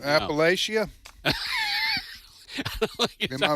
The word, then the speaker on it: Appalachia: Well, you know how those Appalachian boys are.